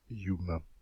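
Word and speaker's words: Hume: important qui s'appelle david youm ça s'écrit humain mais on prononce yuma je vous aimais de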